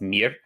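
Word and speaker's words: mirë: The word for good is mir. It's spelled like the English word Maya, but pronounced mir.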